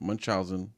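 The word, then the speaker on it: Munchausen: Munch munchen. Yeah. Munchen syndrome. Oh, syndrome. Munchousen syndrome.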